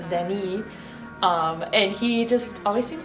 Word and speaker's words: Deni: I love to pronounce his name in Spanish. It's Deni.